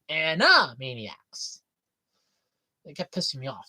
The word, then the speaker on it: Animaniacs: off how they keep mispronouncing the name. Animaniacs. It's not Annie. It's Anna. Anna Maniacs.